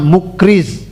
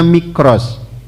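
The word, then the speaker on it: Mikraz: Kalau yang punya buku terjemahan itu di terjemahan ditulisnya Mukriz. Ini keliru. Namanya Mikros, bukan Mukriz, bacanya Mikros.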